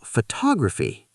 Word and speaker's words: photography: Now, photography. Second syllable, photography.